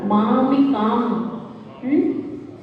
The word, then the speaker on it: मामिकां: मामिकां। अनुस्वार का उच्चारण आधे माँ के साथ, तो मामिकां।